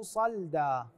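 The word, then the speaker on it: صَلْدًا: الاخير في قوله تعالى فتركه صلدا وليس وليس وليس صلدا الصحيح صلدا بعضهم يقراها صلدا هذا غير غير غير صحيح نقلب الصفحه صفحه 45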